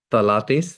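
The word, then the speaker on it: phthalates: steps you want now this is a very difficult word to pronounce is called Tates I think that's how they yeah tattis but it's spelled with a pH silent uh p h d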